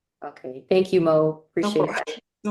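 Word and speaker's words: Moe: Okay, I'll spell it. But I usually just go by Mo.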